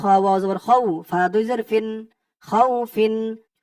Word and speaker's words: خوف: খ দিয়ে ওয়াও ধরবে, খ ওয়াও জবর খাউ, ফা দুই জের ফিন, খাউ ফিন। অক্ফ করার কারণে এখানে উচ্চারণটা হবে খাউফ।